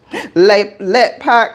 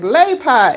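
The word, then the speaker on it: LetPot: Let pot, because I call it a let pot, and they say it's lay pot.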